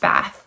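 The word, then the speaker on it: בת: original Hebrew it's interesting the word daughter actually means bath or sorry doesn't mean bath it's pronounced bath which I just think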